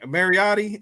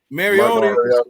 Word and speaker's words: Mariota: Mariotti? Is that how you pronounce it? Mariota.